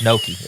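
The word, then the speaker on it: gnocchi: about gashi and oh not gachi it's Noki it's Noki how do you say gashi and it's Noki that's so different well it's got a g in front of it so it's got go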